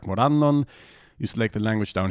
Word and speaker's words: Morannon: And then the result is down here, and you see that it's stressed on the second syllable, Morannon.